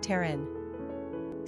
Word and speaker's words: Taryn: Pronunciation, T-A-H-R-N, Taryn.